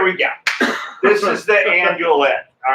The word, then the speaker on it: andouillette: to pronounce them is half the fun. Endoilette. Andouillette.